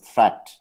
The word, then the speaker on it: threat: Watch out for meat and grate and threat. They rhyme with sweet and straight and that.